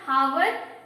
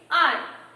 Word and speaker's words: hour: It is not hour, but it's R. Yes? So the opening sound is A.